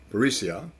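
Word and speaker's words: perisseia: there is the word parasia parisia is the proper pronunciation it means abundance or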